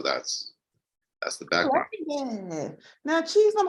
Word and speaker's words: Chisom: It's been a good little minute, but I'm happy to have, let me pronounce it again, Chisom. It's close. Chisom, but Okay, say it again. like that. Chisom.